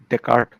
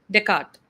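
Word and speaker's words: Descartes: Decart being one of them. Uh the name is written t e s c a r t e s because he's French it is pronounced teart.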